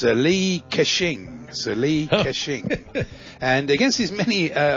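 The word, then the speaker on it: Li Ka-shing: senior advisor to multinational ck hutchinson holdings it's lee kashing and against his many uh amongst his many achievements i believe he invented the cash register it was very lucrative isn't it pronounced cursing no it's k a dash s-h-i-n-g you're allowed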